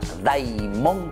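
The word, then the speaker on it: δαίμων: Y me van a repetir, atención, me van a repetir la palabra daimón. Repitan un poco. Daimón. Muy bien, esa palabra daimón, queridos chicos, significa justamente la fuerza interior, lo que sale de adentro, lo que sale del corazón.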